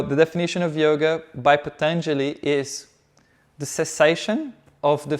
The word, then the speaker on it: Patanjali: I just can't pronounce the first word. Oh, it's Patanjali.